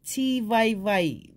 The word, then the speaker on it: Tivaevae: I prefer Tivaevae, the V-A-I, but it doesn't stop them saying what they like.